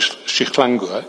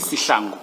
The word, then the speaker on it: Sihlangu: This case officer would then be Warrant Officer Shihlangu. Is it pronounced Shihlangu or Sihlangu? Sihlangu. Sihlangu. I was several of your experts, not your experts, your officers yesterday were using Shihlangu.